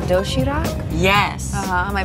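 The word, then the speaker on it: 도시락: It's called dosirak? Yes. Am I pronouncing that right?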